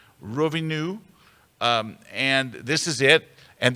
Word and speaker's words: Rovinj: It looks like it's pronounced Roving J. It's Rovinj, but they don't pronounce the J. They pronounce the NJ as new. So it's like Rovinu.